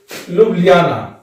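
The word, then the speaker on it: Ljubljana: Slovenia का आप लिख लीजिए लुब्लियाना। देखिए, आपको एटलस में L के बाद J मिलेगा, J साइलेंट रहता है और इसलिए इसका उच्चारण नहीं होगा।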